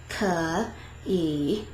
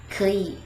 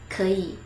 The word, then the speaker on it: 可以: If we try to say it tone by tone, der tone and der tone, then it becomes 可以. It kind of like requires this extra effort to pronounce that word because like 可以. You see how there's like a little bit difficulty when I try to pronounce it. But if you say it with this little tone change, then it becomes 可以, 可以.